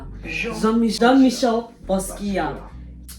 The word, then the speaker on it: Jean-Michel Basquiat: To pronounce Jean-Michel Basquiat. Jean-Michel Basquiat.